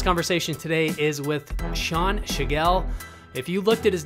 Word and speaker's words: Tschigerl: season our last conversation today is with sean shigell if you looked at his name you would not think it was actually pronounced the way it is given how it's